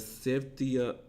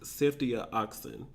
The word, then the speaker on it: ceftriaxone: option remains: a combination of antibiotics, azithromycin, and ceftriaxone. I think I said that wrong. I Googled it and listened to YouTube pronounce it. Ceftriaxone.